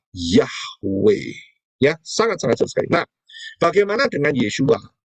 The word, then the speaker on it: Yahweh: Itu penyimpangan dan ingat ya, kalau mau disimpangkan berarti mau menurut aturannya setan. Aturannya Satan ya. Kita tidak mau mengikuti aturannya Satan karena itu pengucapan yang benar adalah Yahweh.